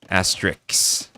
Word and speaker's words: Asterix: Asterix. Like asterisk. So it is exactly the same as asterisk.